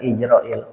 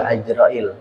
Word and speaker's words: Azrail: Makanya Allah itu sampai sempat ngomel ke malaikat izrail. Bukan Izrail, Azrail. Ya. Jadi bifathil ain katanya bacanya harus fatah ainnya. Jadi bukan izrail sebenarnya. Azrail. Azrail.